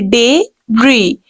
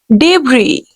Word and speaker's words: debris: Actual pronunciation will be S will be silent here. We have to this is a combination of two words. We can say debris, debris. The word is debris.